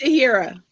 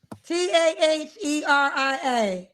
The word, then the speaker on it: Taheria: Is it Tiara or Tiara? How you pronounce it? It's Tahira. Taheria. Yes, ma'am.